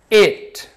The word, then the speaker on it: it: vamos lá repeat it perceba que eu pronunciei it com som não é um som autêntico da letra i não é um i é uma mistura de I com E então fica e porque se fosse eat seria igual o verbo comer eat esse sim tem